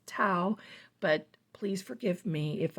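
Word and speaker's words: Tau: it is T auau I think that's pronounced Tao but please forgive me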